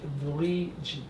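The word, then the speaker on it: Wallid: Yeah, it looks like Walid, but it's pronounced Valigi.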